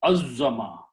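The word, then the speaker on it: عظّم: Now it will be pronounced as Azzama. Fa'ala Azzama.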